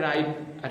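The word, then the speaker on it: write: यानी कि डब्लू है इस डब्लू का उच्चारण हम लोग नहीं कर रहे सीधा राइट पढ़ रहे है अगला है रेसलर रेसलर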